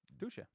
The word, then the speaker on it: Dusche: Dusche.